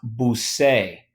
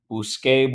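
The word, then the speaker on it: busqué: well probably guessed it but this is actually pronounced boo say and blue say boo Scott's a blue skull it doesn't go the reason why it doesn't go is because we need to preserve the pronunciation of the consonant we need a hard C well the only way to make a hard C here is to swap it out for a qu Bousquet blue Scott stay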